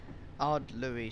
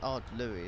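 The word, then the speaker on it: Ardlui: Ardlury Station. Yeah, it's Ardlury, isn't it? That's how you pronounce it. I think, anyway.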